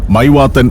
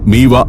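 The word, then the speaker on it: Mývatn: പിന്നിട്ട് മീവ പട്ടണത്തോട അടുത്തു ശരിക്കും ഇംഗ്ലീഷ് സ്പെല്ലിം അനുസരിച്ച് വായിച്ചാൽ മൈവാത്തൻ എന്നാണ് ഈ പ്രദേശത്തിന്റെ പേര് എന്നാൽ അതിന്റെ ഐസ്ലാൻഡിക് ഉച്ചാരണം മീവ എന്നാണ് ബസ് മീവ പട്ടണത്തിലേക്ക് കയറി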